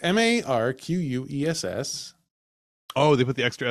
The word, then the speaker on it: Marquess: I Googled it. I said, how do you pronounce this? And Google said Marquess. And I said, I don't think so. Are you sure? It sounds like it'd be Marquis, right? Marquis, it does, right? But it's not.